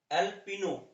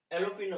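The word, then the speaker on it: jalapeño: जैसे मैरियन, अना और एल्पिनो, ये दो वर्ड होते हैं।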